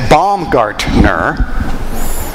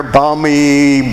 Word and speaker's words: Baumgartner: a little history lesson it's baumgartner i remember going through high school it got mutilated baumgartner balmy you know they just mispronounced it and mutilated it but